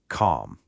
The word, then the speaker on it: calm: That L is completely silent. The right way to say it is just calm.